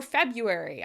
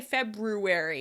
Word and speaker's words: February: Or February. We don't say February, we say February because we say it so often. Toronto instead of Toronto. We pronounce these things faster because they're words we use a lot.